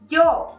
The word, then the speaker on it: yo: I say yo, but there's a lot of people, especially from Argentina and Uruguay, who say it like differently. They say like yo, but I don't trust